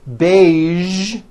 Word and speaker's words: beige: casual television very good now there are only a few words that have the voiced z sound at the end a few of these words are the color beige the word massage and the word Prestige okay now that you